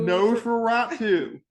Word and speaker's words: Nosferatu: So how do you want to start the intro for Nostra no Nose for for rot 2.